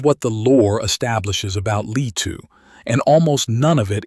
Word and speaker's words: Leetu: Lee-two. Lee two. Guilliman, with a hard G.